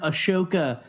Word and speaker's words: Ahsoka: abolutely and also um Ian mcdermid calls her aoka Tano in uh in Rebels and so uh yeah because I I think that is like the way it's supposed to be pronounced but again I'm so